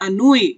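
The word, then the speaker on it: ennui: ये इसकी प्रोनाउंसिएशन है, अनूई, विरक्ति।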